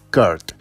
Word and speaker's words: Kurt: y el actor es Kurt Thomas sí se pronuncia así Kurt mple campeón mundial de gimnasia en la vida